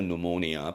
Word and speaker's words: pneumonia: pneumonia죠, pneumonia. P는 묵음입니다.